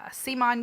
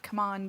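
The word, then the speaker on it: CMON: about is Modern Art which is by C Mon Games or I guess they're pronouncing it come on games come on so modern art is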